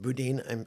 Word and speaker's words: Boudin: and a baguette of Boudin souro okay pronounced Budin I and a a